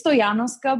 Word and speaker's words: Stojanoska: yeah yeah it's like imagine if there is a y instead of the j right yeah yeah oh